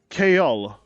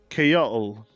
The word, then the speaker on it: Kayal: Oh yeah, I forgot to tell you, somebody gave me the idea of giving the name Kayal. Kayal. K-A-Y-A-L. Kayal. His name is like that. It's spelled like that, at least.